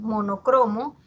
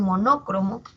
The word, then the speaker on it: monocromo: Como pasa con monocromo, que muchas veces las personas pronuncian monócromo, pero la forma que tiene esta palabra es grave.